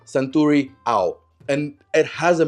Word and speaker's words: Suntory: Centuri Ao is actually pronounced Sanuri Ao and it has a meaning.